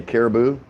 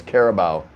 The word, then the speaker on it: Carabao: Caribou? It's Carabao, not caribou.